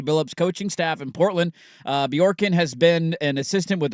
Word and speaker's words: Bjorkgren: I think the J and the B are kind of together. The J is silent. Bjorkgren? Bjorkgren, I Yeah.